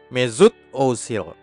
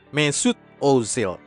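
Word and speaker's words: Mesut Özil: pasti salah Dek Hai sama seperti semua nama Turki kelahiran Jerman ada Oe di awal nama keluarganya umlaut Kami menyebutnya dalam bahasa Jerman Ozil Ozil dan ada tekanan Z pada nama pertamanya dan espada nama keduanya sehingga penyebutan yang benar adalah Mezut Ozil Mesut Ozil Mari bersama-sama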